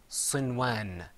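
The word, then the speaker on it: صنوان: That first word is pronounced sinwan.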